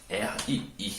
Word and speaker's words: Rii: R-I-I. Oui, ça se dit RII, comme le riz, mais ça s'écrit R-I-I.